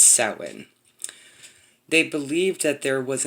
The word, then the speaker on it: Samhain: of the year samhain spelled samhain but it's pronounced satwin they believed that there was a misty veil